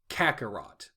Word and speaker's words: Kakarot: They couldn't say Kakarot. Now I get it. It's already... I can see it written, but... Yeah, you can see it written. It's 3 syllables.